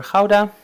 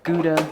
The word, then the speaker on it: gouda: will do this is a mature howda our gouda as the Americans say since I already have